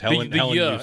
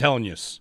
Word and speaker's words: Helenius: Yeah, use. The word use. Helenius. In the second part. 3 syllables. He said it. It's Helenius. Helenius.